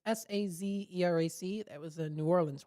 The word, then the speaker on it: Sazerac: like the Sazerac, I think is how it's pronounced. It's Sazerac.